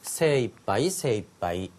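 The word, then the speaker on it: 精一杯: 두 번째, 이렇게 깨끗하게 하는 것은 굉장한 정성이 들어가고 이 정성은 내가 할 수 있는 최대한의 노력이라고 해서 세이빠이라고 읽혀지는 최대한 또는 맥시멈이라고 할 때 세이빠이라는 표현이 있죠.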